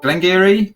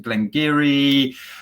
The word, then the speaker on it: Glen Garioch: that we should expect absolutely so it is glengiri so glenn garioch as it says on the label pronounced glengiri um this is a highland whiskey it comes